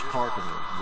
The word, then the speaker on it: Carcano: It is Carcano. The stress is on the first syllable.